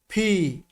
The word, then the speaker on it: P: এল, এম, এন, ও, ফি। আমি আবারও এই লেটারটার প্রোনাউন্সিয়েশন করছি, একটু খেয়াল করবেন ভাই আমার। ফি, ফি। দুটো ঠোঁটকে একটু ভিতরের দিকে নিয়ে চাপ দিয়ে ছেড়ে দিবেন, ফি।